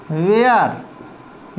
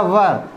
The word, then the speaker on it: were: वो कहते हैं दे वेयर या वर brave. Okay, they वर brave, they वेयर brave, ये इसका उच्चारण दोनों ही तरीके से किया जाता है।